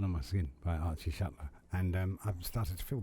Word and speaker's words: Shuttler: And Sam Butler rhymes with Shuttler.